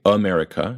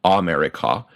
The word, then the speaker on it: America: vowels of the word we say America and not America and we make the